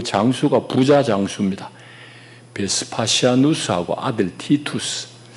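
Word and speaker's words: Titus: 베스파시아누스하고 아들 티투스. 성경에 디도라고 적혀있는지 모르겠어요. 티투스라고 발음하는데 그 부자 장수를 보냅니다.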